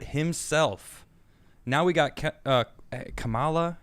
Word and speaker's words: Kamala: now we got uh kamala kamala kama la kamala yeah is that it okay yeah she she says she says think of the word comma c-o-m-a-l-a all right so